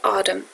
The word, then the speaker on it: autumn: یه نکته کوچیک راجع به autumn. انش خونده نمیشه و تیش یه تلفظی بین تی و دی داره.